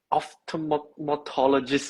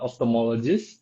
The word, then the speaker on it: ophthalmologist: What is an optomatologist if I'm pronouncing it correctly? Yeah. So it's pronounced as a opthalmologist.